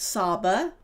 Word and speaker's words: Saba: And Saba is grandfather in Hebrew and Aramaic. It's pronounced Saba.